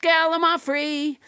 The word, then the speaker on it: gallimaufry: Let's never forget gallimaufry, which I pronounced wrong until nobody James Hyder corrected me.